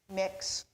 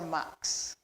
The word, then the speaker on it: Mx: there on the screen pronounced three different ways either mx mix or mux you know we often